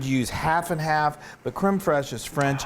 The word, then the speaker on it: crème fraîche: Okay, so now we've got some crème fraîche. Yay! You have to roll your R when you say that.